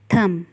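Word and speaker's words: thumb: थम अंगूठा, यहाँ पे भी बी बिल्कुल साइलेंट हो गया है, सिर्फ हम थम बोलेंगे, थम नहीं बोलेंगे।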